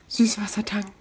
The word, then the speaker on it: Süßwassertang: Süßwassertang. For all you non-German speakers, that's how it's pronounced.